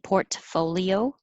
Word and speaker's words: portfolio: good astra strategy portfolio i'm not really releasing my t portfolio i'm holding it there port folio portfolio 11